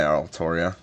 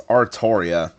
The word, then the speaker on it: Artoria: Oh, hi, Altoria. Or Altria. I hate that her name gets butchered so badly. It's Artoria.